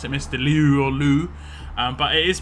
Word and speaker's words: Liu: i've read the best way you can do it as a sort of like a foreigner would just be to say lee it would be mr lee or most people are